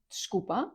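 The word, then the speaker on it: desculpa: Отже, чкупа це читається як дшкупа, якщо прям вимовляти по звуках. Але частіше всього ви почуєте, як чкупа або ч взагалі чкупа ч купа чкупа.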